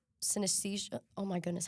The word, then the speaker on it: synesthesia: And it's not like a synthesis synesthesia Oh my goodness, how do you say that word?